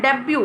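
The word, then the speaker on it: debut: प्रवेश करते हैं तो इसको कहा जाता है डेब्यू और इसकी स्पेलिंग होती है जीबी क्यूटी डेब्यू ना कि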